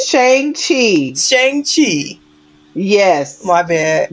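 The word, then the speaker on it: Shang-Chi: ] up you mean changji and the 10 rings is that what you're talking about right now wait that's how you say it shang chi chang chi yes my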